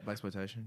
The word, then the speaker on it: blaxploitation: Is that how you pronounce it? Yeah, blaxploitation.